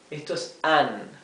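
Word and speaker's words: Anne: o verdad audre audre esto es an an la e final es muda es an que significa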